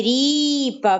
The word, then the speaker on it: ріпа: Андрюша Спробуй поставити наголос куди буде падати наголос у слові ріпа на рі на рі ріпа правильно в нас буде падати наголос на склад рі на голосний і молодець наступне